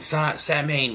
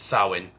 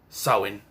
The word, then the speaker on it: Samhain: The same Samhain, which is not how you pronounce it, it's Samhain. They pronounce it right in Halloween 3, Samhain.